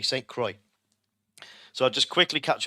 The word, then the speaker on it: St. Croix: Here it's Shadow pronounced it correctly, St. Croix.